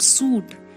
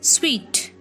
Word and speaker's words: suite: one is shoot shoot it's not suit it's sweet sweet i stayed in a